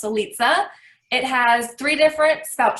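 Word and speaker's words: Litze: liza runs with pizza i know everyone wants to know how that's pronounced eliza it has three different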